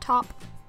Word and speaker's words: taupe: it is Taupe except it's actually pronounced top and this was $3.99